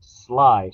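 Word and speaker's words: Schley: and the flying Squadron also apparently schay is pronounced Sly so I I guess I should be saying Commodore Sly according to one of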